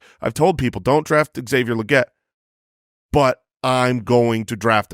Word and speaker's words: Legette: He pronounces it Legette.